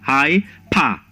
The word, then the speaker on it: hyperbole: Then we have high pa. Notice the pronunciation there and the syllable that is stressed.